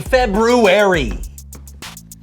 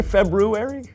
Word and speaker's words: February: the so-and-so show Happy February did you say February I know there's an R there but most people don't pronounce it oh well most people